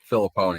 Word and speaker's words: Filipponi: I don't want to rip the guy and pronounce his name wrong. Andrew, was it Filipponi? Filipponi, yeah.